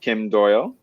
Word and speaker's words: Kim Doyal: We are playing Side Hustle with Kim Doyal. Am I pronouncing that right? Yeah. Absolutely.